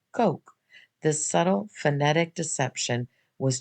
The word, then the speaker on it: Koch: I learned his name was actually pronounced Ko.